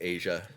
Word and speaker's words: Aja: Asia by Ste Dan that's Aja y that's pronounced Asia that is not how I wrote it down yeah no it's Aja yeah incidentally I'm a